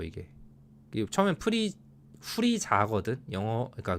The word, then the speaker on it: 후리자: 똑같이 억울하다 나 화났다 프리저 이게이 처음에 프리 후리 자거든 영어 그니까 그 1어 원어로 하면 후리자 우리나라는 프리저가 맞잖아요 영어 발음에 좀 더 가깝잖아요 근데 일본 발음은 저를더라